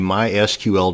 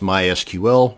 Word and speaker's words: MySQL: how to create a mySQL database and yes it's pronounced MySQL not MySQL so the next time